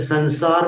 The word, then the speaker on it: संसार: ऐसे संसार में जो उच्चारण है अनुस्वार का वो न के समान है, संसार।